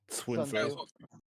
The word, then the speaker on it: Sun Tzu: it is Sun Tzu, but depends on the dialect of Chinese you're using.